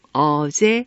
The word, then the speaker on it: 어제: 우리가 알고 있는 것처럼 세, 종, 어제, 훈민, 정, 이렇게 읽습니다. 쉐와 어와 제는 받침 이응이 있는데도 받침을 발음하지 않고 쉐, 어, 제 이렇게 읽습니다.